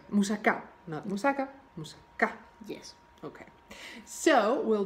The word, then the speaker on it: moussaka: for which is and that's the right way to pronounce it by the way moussaka moussaka yes okay so